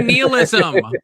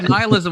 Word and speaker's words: nihilism: Stop saying neilism. Stop saying neism. Just call nihilism like a normal human.